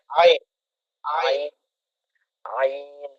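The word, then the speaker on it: ع: পারি না আইন হলকের মধ্যখান হইতে নরম ভাবে উচ্চারণ করেন হয়ে যাবে ইনশাল্লাহ আয় আয় আইন আইন আইন আয় আইন আন হ্যাঁ আরো নরম করে হ্যাঁ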